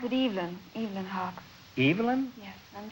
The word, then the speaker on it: Evelyn: Well, I pronounce it Evelyn.